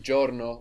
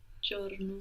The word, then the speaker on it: giorno: And then giorno, which is day, spelled Giorno. So sometimes the I in Italian won't be heard that clearly.